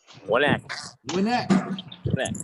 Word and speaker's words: Winneck: Winneck. Yep. Just like it's spelled.